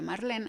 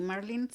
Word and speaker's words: Marlene: Y Ah, yo, Marlene, en México se pronuncia Marlene, aquí Marlene.